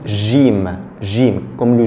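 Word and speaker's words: ج: Quand quand il est séparé, jim, jim, mais en Égypte seulement, ça se prononce gim, comme le G en français, gim. Mais à part l'Égypte, il se prononce jim, jim, comme le J.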